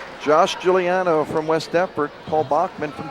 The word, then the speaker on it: Giuliano: Josh Giuliano from Westford. Paul Bachmann from Deford. Right. And then the CD media tonight, I was corrected on the pronunciation. It's Gilliano.